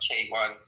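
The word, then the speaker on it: Keyvan: My name is pronounced K1. It's like a letter K and number one.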